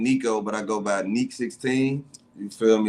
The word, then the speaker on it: NEC16: but I go by ni 16 you feel me it's a long e not a short e um I'm from Chicago